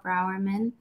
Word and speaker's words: Brourman: I'm Brourman.